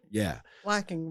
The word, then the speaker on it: Flocking: And Flocking rhymes with knocking.